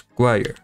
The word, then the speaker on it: choir: It's choir. But again, that's one of my pet peeves with English. Like chore is a very similar word when you see it to choir, but they have completely different pronunciations.